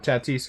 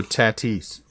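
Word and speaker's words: Tatís: about the pronunciation of tatis again it is fernando tatis it is fernando tatis it is not tati's if you say tatish you are pretentious and no one can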